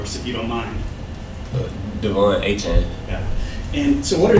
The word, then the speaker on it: Devon Achane: Devon Achane.